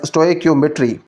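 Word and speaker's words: स्टोइकियोमेट्री: स्टकियोमेट्री pronounced as स्टकियोमेट्री।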